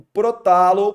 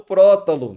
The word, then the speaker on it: prótalo: ó também aqui ó o protalo prótalo depende da sua pronúncia né que na verdade